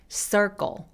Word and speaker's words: circle: 얘네들도 다크 L 소리입니다. 한번 해볼게요. circle. 그래서 circle 아니고 circle. 이 단어 하나만 얘기한다면 light L처럼 circle 이렇게 윗니에 닿아도 돼요. circle. 근데 문장 안에 있을 때는 그렇게 열심히 발음하기 좀 힘들어서 circle 하면서 애매하게 끝낸다고 생각하시면 돼요.